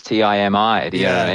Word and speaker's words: Timi: Well, why are you pronouncing the word in a more difficult way than it needs to be pronounced? yeah, there isn't no E, no Y there at all. It's Timi.